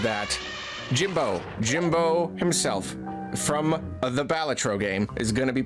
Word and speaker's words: Balatro: The Joker from Balatro, and I am going to pronounce it Balatro. I know, like, no matter how you say Balatro, at least one person will be like, it's Balatro. Get it right. Balatro. It's a Latin word, it's We're pronounced playing Balatro. Also, Balatro. Local Thunk himself said it doesn't matter how you pronounce it.